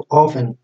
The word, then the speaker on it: often: تمام، اللي بعدها the activities of human beings are often هاي تلفق often مو often. طبعا التي هون يعني ما بتلفظ، او اذا تلفظ ما بتلفظ يعني، او ما بينسمع الصوت تبعها. نشاطات البشرية غالبا often the